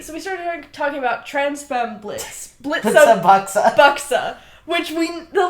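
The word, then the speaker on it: Blitzø: how you know how Blitz dropped the O in his name famously Blitz but the O is silent we well okay we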